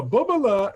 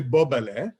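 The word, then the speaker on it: bubele: So bobala is really bobale. In America, we say bobala, but it's not.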